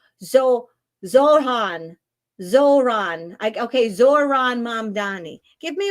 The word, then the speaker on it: Zohran: Give me a 1 in the chat if you think that that is Zohar. So I can't even pronounce his first name. Zohran.